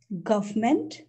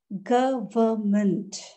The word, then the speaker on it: government: next word government hmm government no the correct pronunciation is government it has three syllables government government government is